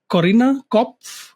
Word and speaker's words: Corinna Kopf: He's driven the growth of massive creator networks like Studio71 and Fullscreen, worked with top gaming talents like Shroud and Corinna Kopf. Is that the right pronunciation?